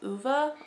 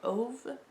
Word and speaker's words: Ove: stick with now called uva or ove uva i've heard i've heard so many um i when i first read that i heard man called of because it rhymes with love and that's always stuck